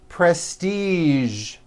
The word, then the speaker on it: prestige: television very good now there are only a few words that have the voiced sound at the end a few of these words are the color beige the word massage and the word prestige okay now that you are